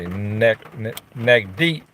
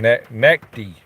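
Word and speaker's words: Naqdi: So he basically said that, let's see, Nagdi, how do you say it last name? Nakdi. It's N-A-Q-D-I, Nakdi.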